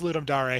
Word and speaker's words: Ludum Dare: i think yeah i i used to call it ludum dare it's it's ludum dare okay cool ludum dare